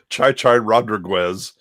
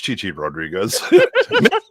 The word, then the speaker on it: Chi-Chi Rodriguez: Chai Chai Rodriguez and somebody comes up and goes, "It's Chi-Chi Rodriguez Rodriguez.